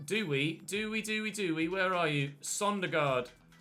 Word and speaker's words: Søndergaard: Sondergaard. Or Søndergaard. Søndergaard. I'm trying to get my Danish pronunciations right.